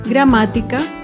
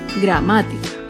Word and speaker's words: gramática: vemos otro ejemplo con la palabra gramática gramática se acentúa en la antepenúltima si la gramática otro claro ejemplo